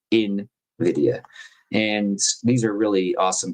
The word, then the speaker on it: Nvidia: I learned to say it the right way. I've been saying it wrong for a few years. Invidia.